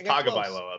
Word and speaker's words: Tagovailoa: It's Tagovailoa, but that was good.